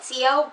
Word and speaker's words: Sio: I call it Sio, but my best friend calls it Show. I guess technically it would be pronounced Show because Siobhan, not Sio, but I don't know,